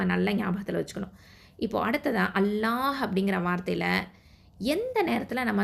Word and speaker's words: الله: அப்போது அல்லாஹ் அப்படிங்கிற வார்த்தையில் உள்ள லாமுக்கு முன்னாடி எழுத்து ஃபத்தா இல்லைனா தொம்மா இருந்துச்சு அப்படின்னு சொன்னால், அல்லாஹ் அப்படிங்கிற வார்த்தையில் உள்ள லாமை தான் தஃப்ஹீமா, அதாவது வல்லினமாக உச்சரிக்கணும்.